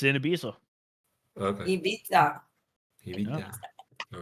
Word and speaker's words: Ibiza: Ibiza. Ibiza. Wow. It's the right way to say it.